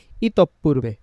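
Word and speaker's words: ইতঃপূর্বে: যেমন আমরা বলি ইতপূর্বে, সেটাকে ইতপূর্বে না বলে কি বলার চেষ্টা করব, ইতপূর্বে, কারণ বিসর্গ আছে তারপর যেহেতু পটা 2 বার উচ্চারণ হবে।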